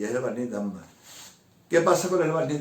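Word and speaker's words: dammar: El Dagmar se escribe D-A-M-M-A-R, Dagmar.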